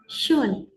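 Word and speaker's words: schön: Kalau ada titik ini kita bacanya tuh O, tapi ee mulutnya agak apa ya? Agak agak di kayak e tapi enggak e gimana ya? Agak ditarik dikitlah. Jadi kita bacanya shun canon sh canon zer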